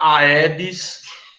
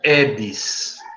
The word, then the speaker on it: Aedes: edes certo edes eg se falar aedes diga que nem me conhece viu gente se pronuncia edes Viu você já ia